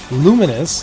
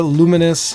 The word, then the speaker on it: Lumines: managed to sell over 80 million units worldwide luminous as I pronounced it was one of the launch titles